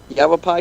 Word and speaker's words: Yavapai: In Yavapai, is that right? Did I pronounce that right, Scott? Yeah. Yavapai County.